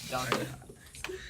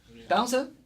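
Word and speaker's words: Donte: Dante. Dante. Downson? Dante. Dante. How do you spell that?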